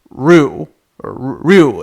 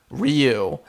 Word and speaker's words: Ryu: yeah I remember some some weaboos they will they will say that the main fighter guy from Street Fighter is roo-roo it's it's a very subtle one syllable pronunciation Capcom USA officially pronounce it ryu and some people like